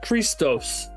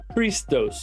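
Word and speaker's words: Χριστός: xmus um because the x is capital for the um CH sound the ch sound and the then it's uh a row Iota Sigma focus camera to Omron Sigma this one is Christos Christos or Christ that's where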